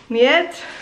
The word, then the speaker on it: Mljet: Mljet. Alan always correcting my pronunciation.